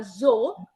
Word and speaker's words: zo: Allora, c'è una bella differenza tra l'accento che tu trovi alla parola zo, che è un accento acuto, zo.